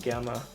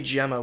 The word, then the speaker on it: Gemma: knew this chick named gamma she was so into me i'm sorry it'd be gemma wouldn't it i keep forgetting that that's how that name is pronounced terry you're kind of